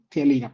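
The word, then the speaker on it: ptialina: Bueno, tialina, pero no se pronuncia la P.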